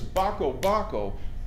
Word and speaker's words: Bako Bako: Well, you have to pronounce it like this, Bako Bako.